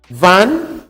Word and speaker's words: wann: And then the second to the last one, wann, pronounce it, wann.